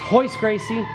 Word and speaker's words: Royce Gracie: It's spelled Royce Gracie, but they pronounce their R's differently in Brazil. Um it's Royce Gracie, and I can't remember his um brother's name or his cousin's name.